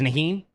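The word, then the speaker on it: Najee: like heinz a lot how do you say his first name nahim it's naheen yeah i think so okay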